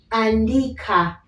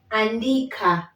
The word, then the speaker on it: andika: we have a here so andika as you finish you can hear the ah coming out andika okay andika the art is coming out very clearly and very smooth to help you know